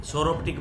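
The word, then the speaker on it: Psoroptic: ये सोरोप्टिक है, पी से, सोरोप्टिक नहीं है, ये सोरोप्टिक बोलते हैं, पी साइलेंट रहता है इसमें।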